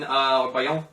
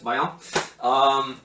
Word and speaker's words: Baião: So you have two examples of ways that I use Baião in Baiao. I always say it wrong, but it's Baião.